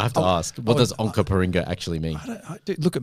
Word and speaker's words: Onkaparinga: The city of Onkaparinga. That kind of sounds like we're in Canada. You pronounced that perfectly.